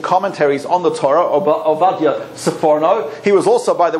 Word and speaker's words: Sforno: Some people pronounce it Sforno, some Sipurno. I think probably soprano, but that has negative associations with Americans, so we prefer to say Sforno.